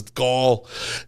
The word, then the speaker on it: Gall: A lot of the other places, Gall, kind of didn't. Which is how my name is pronounced, but not spelt. Gall. Gaul.